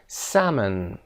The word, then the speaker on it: salmon: salmon قسمت اول، الش هم تلفظ نمیشه. salmon.